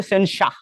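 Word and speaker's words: censure: আচ্ছা এর সাথে দেখো সবচাইতে ভালো জায়গায় হচ্ছে সেনসা ঠিক আছে এটা আবার সেন্সিওর বলো না এটা হচ্ছে সেনসা তোমরা অক্সফোর্ড খুলে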